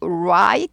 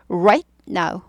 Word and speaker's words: right: 라라 우라라 이렇게 돼요 그래서은부터 시작해야 돼요 우하고 right 나오거든요 right 이거는요 우라를 한 박자 하시되 우 우를 어떻게 해요 10분의 박자로 빨리 하시는 거죠라라 는요 그러니까 발음 한다기보다 입 모양을 만들어 주는 거죠 라라 right now right right 하면서 딱 끊어야 돼요 right now